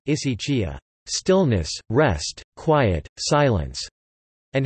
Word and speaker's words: ἡσυχία: Hesychasm, Greek, hesychasmos, contemporary Byzantine Greek pronunciation, isaitia zmos, derives from the Greek hesychia, hesychia, Greek pronunciation, isychia, stillness, rest, quiet, silence, and hesychazo, Greek pronunciation, isizazo, to keep stillness.